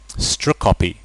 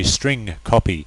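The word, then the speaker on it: strcpy: is complete and correct stri copy that's how you pronounce that St cpy stri copy or you can say string copy if you like if you want to be literal about it string copy is a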